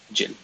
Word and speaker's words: Gilles: The name is Gilles, but in Maltese everyone would call me Gilles. Not like Jill with the English pronunciation, but more abrupt. Gilles.